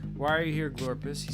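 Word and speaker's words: Glorps: and F says why are you here glorus he says I live here this is my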